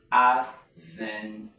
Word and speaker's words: advantage: Now with that 3 syllables, we have to stress by the law to stress the second syllable from the suffix end, which will mean advantage.